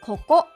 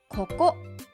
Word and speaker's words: ここ: 発音はここ、ここ、ここ。